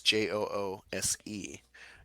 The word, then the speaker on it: Joose: But beforehand, I saw something that said orange cream, and it's called Juice, Joose. Not to be confused with Jews. It's not pronounced that way.